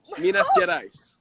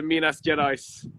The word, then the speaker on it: Minas Gerais: That sounds really cool and something that I shouldn't try to pronounce myself. Please try it. What? Say it one more time. Minas. Yes, Gerais. Minas Gerais.